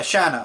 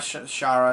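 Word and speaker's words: Sana: her name is sha I'm probably saying her name wrong does it say it here yeah Shana I'm sorry not Shara shanana uh she finally snapped to her senses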